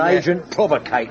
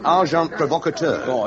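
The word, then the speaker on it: agent provocateur: And an agent provocator. S. Amazing. Packar. The pronunciation however is arjant provocator.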